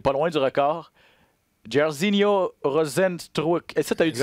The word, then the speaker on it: Rozenstruik: Donc, ça se prononce un peu comme ça s'écrit, mais surtout les Brésiliens, il y a des lettres que tu n'as pas besoin de prononcer.